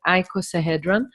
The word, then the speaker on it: icosahedron: called equals ahead run icosahedron actually in English you pronounce it like that icosahedron and this shape is